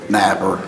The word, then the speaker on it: Napier: You pronounce it Napier or Napper? Napper. Napper.